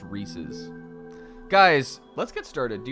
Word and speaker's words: Reese's: It's Reese's. It's pronounced Reese's.